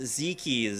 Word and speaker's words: Zeke's: I believe it as actually technically pronounced Zekies, so if somebody else can show me a source that says otherwise, I'm gonna go with that. And if somebody else has an issue, you can tweet at CSLLOL with the correct pronunciation.